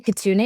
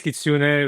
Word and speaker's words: Kitsune: I think it's Kitsune. It's it's a Japanese word which means folks basically and I think it's pronounced kitsune, but don't quote me on that. I may be wrong.